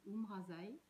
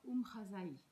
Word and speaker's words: Oumrazaï: reçu les deux noms j'ai d'abord reçu ou brassaï et ensuite un peu plus tard ou brazza est en fait la deuxième prononciation elle est un petit